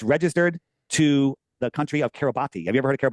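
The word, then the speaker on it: Kiribati: wide, and it's registered to the country of Kerabati. Have you ever heard of Kabati? It's pronounced Kerabat, but it's pron it's spelled Kabati.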